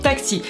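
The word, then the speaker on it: taksi: Donc c'est très simple, tu lèves la main, tu cries taxi, ça s'écrit T-A-K-S-I, donc tu dis taxi, il n'y a aucun problème, ils comprendront.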